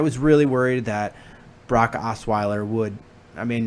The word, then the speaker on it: Osweiler: Instead, you have a really motivated uh Blake Rottweiler. I can't pronounce his name. Was it Is it uh Oh, it's a Brock Osweiler.